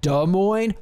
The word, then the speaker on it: Des Moines: Des Moines have nothing it's got It's actually pronounced Des Moines you Des Moines that's how I say it you don't get